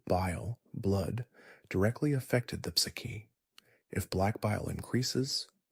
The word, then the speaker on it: ψυχή: The Greek word for soul is psychi pronounced psyche.